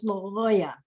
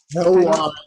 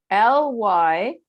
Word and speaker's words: Lyoya: it up too, and we thought it was Lyola, but I don't know. I don't know for sure. How is know. it? Can you spell it? Lyoya. L-Y-O-Y-A. Y. Oya. Lyoya. Oh, yeah. Oh, yeah. Lyoya.